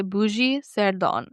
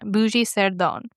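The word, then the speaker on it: Bugey-Cerdon: It is called a bougie sone. I think that's how you say it. It's how I want to say it. I want to say bougie. It's B U G E Y- C E R D O N. Bougie Seron.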